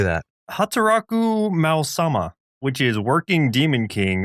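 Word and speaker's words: Hataraku Maou-sama: Hataraku Mao-sama, which is Working Demon King or Demon Lord at Work.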